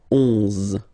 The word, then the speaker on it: onze: 11, 11, okay, so O plus N give you the sound on, onze, onze, okay, final E doesn't exist phonetically, onze, okay, douze, douze,